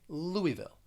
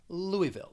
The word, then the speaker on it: Louisville: and with this one you are not going to say louis you're going to say louisville louisville now if you are from there i think regionally if you're from kentucky many people would pronounce it as louisville and they're going to say that second and third syllable with more of a schwa sound louisville louisville then let's go to